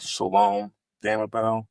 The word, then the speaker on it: Shalom Damabel: and tell our audience exactly here how to pronounce and spell your name again if they're Googling Shalom damell h a l o m d a m